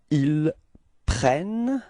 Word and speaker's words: ils prennent: Okay, so you can notice that the first E of prennent is pronounced like eh. And the reason for that is that you've got a double N after that, so it changes the pronunciation of the E, okay?